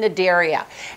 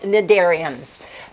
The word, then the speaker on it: Cnidaria: front of an N you also do not pronounce the C in front of an N so these are called cnidarians and phylum Cnidaria very